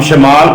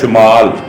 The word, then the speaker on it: شمال: تلفظ ہے صبح۔ سرسراہٹ ہم شمال پڑھتے ہیں، جبکہ اس کا صحیح تلفظ ہے شمال، شین کے اوپر پیش ہے۔ جنوب، افق، مغرب، درخت۔